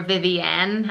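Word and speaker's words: Vivienne: any at the end you pronounce it more Vivian and I personally just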